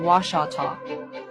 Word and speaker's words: Washita: The spelling Washita and pronunciation Washata.